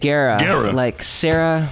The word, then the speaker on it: Guerra: You say it Guerra. Like Sarah with a G.